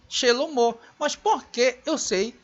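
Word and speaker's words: שלמה: E agora o nome Shelomo, o mesmo Re com o som de O. Eu não posso dizer aqui Shelom, que é o nome do rei Salomão, e nem Shelomá, e sim Shelomo.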